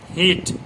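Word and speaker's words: heat: হিট, এইচ ই এ টি, হিট, হিট মানে গরম করা যেটা। এটা হলো ই এ এর উচ্চারণটা ই ও ই এ মাঝামাঝি হয়, মানে ই এ যদি পাশাপাশি থাকে তাহলে উচ্চারণটা কেমন হবে, ই সিঙ্গেল ই এবং ই এর মাঝামাঝি।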